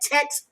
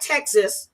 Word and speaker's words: text: said text messages. It's not Texas, okay?